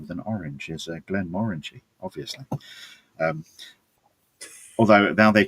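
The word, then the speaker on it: Glenmorangie: But having been in so many rooms with Glen Morangy brand people over the years where they specifically said it's Glen Morangy. It rhymes with orangey and it's a bit orangey and they go brilliant.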